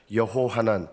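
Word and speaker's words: יְהוֹחָנָן: 요한이라는 뜻은 히브리어로 좀 이름을 발음하면 여호하난, 여호와께서 긍휼히 여기셨다 이런 뜻입니다.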